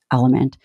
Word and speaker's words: LMNT: episode of the show it's spelled lmnt and it's pronounced element I've been using element